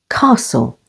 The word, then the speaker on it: castle: catch stretch and which T is also silent after S as in castle with the stress on